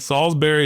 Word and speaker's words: Solsbery: And Salsbury is spelled weird. So, you know, s o lsb e r y. It's uh it's like Salsbury Steak, but it's not spelled the same.